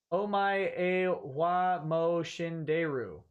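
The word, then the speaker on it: お前はもう死んでいる: Ichisinko says it's pronounced Omae wa mo shinderu.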